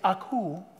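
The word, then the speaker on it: ἀκούω: kind of cute it's aku almost sounds like a little baby cooing and it's beautiful in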